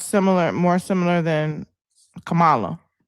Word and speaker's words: Kamala: letter like there like it's it's Kamala like it's this it's the emphasis first there but I have friends